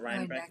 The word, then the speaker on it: Rhinebeck: spiritual retreat at the Omega Institute in the Rhinebeck, is that how you pronounce it? Rhinebeck, yeah.